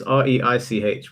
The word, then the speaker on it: Reich: Yeah, my last name My last name is. Wait, sorry. Can you write this? Wait, can you Sorry. Your pronunciation is weird. It's r e i c h. We say reich.